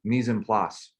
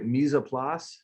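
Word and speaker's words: mise en place: so it looks like misoplas is that how you would pronounce this in french uh mesa pla because we don't say the s or that's what my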